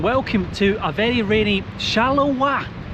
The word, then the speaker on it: Charleroi: to a very rainy shallow W I don't think I'm pronouncing that right I thought it was pronounced charoy until yesterday uh but yes today we're in shalawa the supposed ugli city